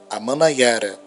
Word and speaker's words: Amanaiara: Se escreve A-Man-Na-I-A-Ra, Amanaiara, terra das chuvas.